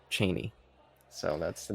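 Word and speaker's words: Chani: is her name Z's character yeah they say Chie in these yeah is it incorrect it is yeah they went with David Lynch's pronunciations in a couple different things that that's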